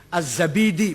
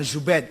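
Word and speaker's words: az-Zabidi: enggak ada Asmi asma azzabidi bukan zubaid zabid apa lagi jadi jadi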